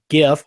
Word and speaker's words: GIF: Scott Bachmeyer from the University of Wisconsin tweeted out an animated GIF, hard G with that GIF of the visible imagery